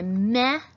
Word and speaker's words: me: And second of all, because the E says E, because it comes at the end of the syllable. If you wanted that to say meh, like meh, you'd have to add an H to it. Put that consonant on there. There you go. Now it says meh.